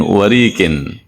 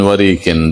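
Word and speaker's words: وَرِق: khaman cincin stempel min warin min warin dari perak bacanya pakai kasrah War kalau warak itu malah daun nanti Min warinanaadi dan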